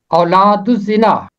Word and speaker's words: اولاد الزنا: اولاد الزنا، یہاں الف لام کے بعد زے حرف شمسی ہے، اس لیے لام کی آواز خاموش ہے.